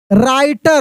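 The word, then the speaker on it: writer: Miyan was a Yong Y ओ यू एन G Yong राइटर देखिए डब्ल्यू आर एक साथ रहेगा। तो आर से हम लोग पढ़ेंगे। डब्ल्यू से नहीं पढ़ेंगे। यानी डब्ल्यू साइलेंट हो जाएगा।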